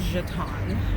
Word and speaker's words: Juaitan: not sure i'm jay my given name is jaton and yes you say it that way but i go by